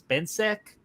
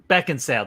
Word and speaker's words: Beckinsale: plus uh Kate's uh I believe her last name is Ben sick am I pronouncing that right Beckinsale that's it see close uh Beckinsale